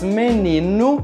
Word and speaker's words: menino: Já a letra O, quando está no final da palavra, tem o mesmo som da letra U. Por exemplo, nas palavras menino, carro, cachorro e no meu nome.